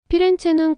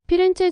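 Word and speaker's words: Firenze: 또 중세 피렌체의 이름은 남고 발음은 달라졌다. 중세 시대로 들어서며 플로렌티아는 이탈리아로 바뀌면서 현지에서는 플로렌티아 나중엔 피렌체로 발음됩니다. 흥미로운 건 영어권에서는 여전히 플로렌스라는 라틴어식 이름을 씁니다. 즉 같은 도시를 두고도 현지에서는 피렌체의 영어권에서는 플로렌스로 부르게 된 거죠.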